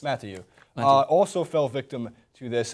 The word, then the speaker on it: Mathieu: Mathieu. Mathieu. Is that how you pronounce it? Yes. Mathieu.